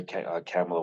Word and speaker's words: Kamala: But to me, it's just like you gotta find like the Westmores, or like I would consider Kamala one of them. Um, I'm gonna need you to pronounce her name right.